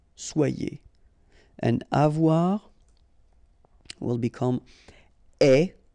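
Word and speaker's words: aie: and avoir will become est, remember the final E is not pronounced, so you only have this AI sound, est, okay, est, ayons, ayez, okay, est, ayons, ayez.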